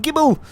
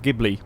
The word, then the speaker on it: Ghibli: Maserati Gibble! The Gibble is back. I know it's supposed to be pronounced Ghibli, but I shall forever call it the Gibble.